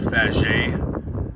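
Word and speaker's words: Faget: up by the way this guy's name is pronounced fajay uh he's french uh he worked on for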